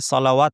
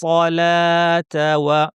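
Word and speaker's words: صلاة: কেউ ভুলে সলাওয়াত পড়বেন না। যদি কখনো সলাওয়াত পড়তে হয় তাহলে ওয়াওয়ের উপর চিহ্ন থাকবে। তাহলে এখানে কোনো চিহ্ন নাই, এই ওয়াওটা উচ্চারণ হবে না। ওয়া ইউকিমুনাস সলাতা ওয়া মিম্মা তাতে টানবো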